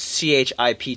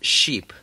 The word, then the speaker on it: chip: And that doesn't make any sense as a joke unless you know that French people pronounce C-H-I-P chip as sheep.